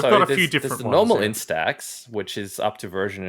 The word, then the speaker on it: Instax: themed version of their in-stack in i always like mispronounced this instead instax yeah mini link polaroid